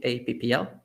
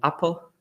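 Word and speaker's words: aePPL: a word play and we pronounce it a ppl and i have here a fake logo because we didn't know how to pronounce it and we used to call it apple and for this presentation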